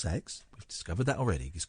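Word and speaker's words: CeX: near a sex shop the computer exchange is pronounced sex we've discovered that already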